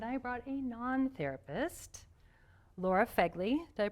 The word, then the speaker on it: Fegley: I brought a therapist, Nick Brave, and I brought a non-therapist, Laura Fegley. Did I pronounce that correctly?